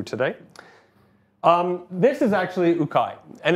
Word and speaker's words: UKAI: it's funny because it's UK AI when we're here a lot of people assume it's like UK AI or we have infinite pronunciation ation of this but this is actually ukai here uh ukai U is corant which